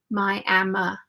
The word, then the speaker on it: Miami: Tech and I am in Miami Texas we pronounce it my Emma though Miami Texas Elena says you are so